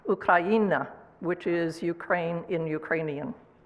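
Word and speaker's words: Україна: And my t-shirt, which you might not be able to read, says Ukraina. I'm sorry, I said it wrong. Ukraina, which is Ukraine in Ukrainian.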